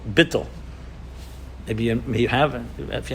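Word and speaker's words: bittul: for it called in hasidic terminology it's called bitto you may haven't if you haven't heard this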